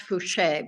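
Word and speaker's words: Fouché: all correct great yeah it's pronounced fuche but it's spelled like touche with an F got it and it's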